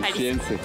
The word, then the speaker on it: Jalisciense: ¿Jaliscana? No se dice así. Jalisciense.